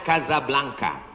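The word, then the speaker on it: Casablanca: Hasan dua di Kota Kasablanka Hai ibukota Maroko tempat saya kuliah nama negaranya Maroko ibukotanya tulisannya casablangca cara bacanya Kadzab langka Kaza artinya rumah Blanca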